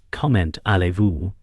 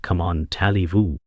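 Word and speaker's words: comment allez-vous: It's comment Alivu, not come on Talivu.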